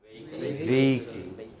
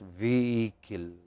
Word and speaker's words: vehicle: And next, vehicle. You don't pronounce H there. It's just vehicle.